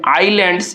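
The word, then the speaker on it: island: Next आगे देखा जाए 13 नंबर में आइलैंड्स। इसको देखिए आइलैंड में हम लोगों का क्या है? एस साइलेंट वर्ड है।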